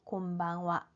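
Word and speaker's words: こんばんは: 자, 이 하라고 쓰는 글자는 조사 은, 는의 의미를 가질 때는 와라고 발음을 합니다. 자, 이 낮인사, 밤인사는 건니치와, 오늘 낮에는 어떻습니까? 곤방와, 오늘 밤은 어떻습니까? 이런 문장에서 파생된 인사말이기 때문에 이 조사로서의 와 발음이 그대로 남아 있어요. 그래서 쓰기는 하라고 쓰지만 발음은 와라고 해주셔야 됩니다.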